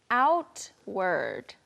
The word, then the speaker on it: outward: Outward. The T is often very soft and we say it like outward.